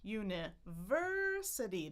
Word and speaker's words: university: So we have our primary stress, da-da, da-da-da, university. That's our primary stress. But then we actually start kind of halfway in the middle. University. So that's what we call secondary stress.